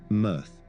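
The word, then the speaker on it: MEarth: He devoted much of his time since 2009 to the Earth project, pronounced "mirth", a ground-based array of tiny 0.4-m telescopes that look for transiting super-Earths or M dwarfs around nearby red dwarf stars.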